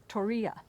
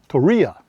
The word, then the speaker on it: Torreya: So I have to ask you to pronounce the state park we're at. Torreya. Torreya.